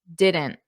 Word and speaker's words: didn't: Didn't, didn't. So notice how I'm not really pressing out that T. Didn't. That's the full pronunciation.